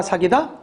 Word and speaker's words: 삭이다: 그래서 어떤 달아오르는 감정을 누그러뜨릴 때도 삭이다를 쓰는 것이고 일부러 삭이다라고 발음했습니다. 구별하기 위해서 삭이다. 연전해서 발음하면 사기다. 시작. 사기다. 기억 받침 연음해서 발음하게 되죠.